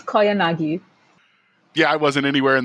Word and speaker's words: Koyanagi: Did I pronounce that anywhere close to the realm of close? It's Koyanagi.